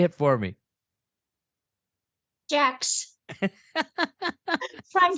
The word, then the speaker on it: Jacques: Jacques. From spelling English pronunciation, I believe everybody, butchers it.